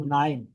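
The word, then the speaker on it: KNIME: K Nim e but the first K is uh not pronounce it so so you just call nine can you tell nine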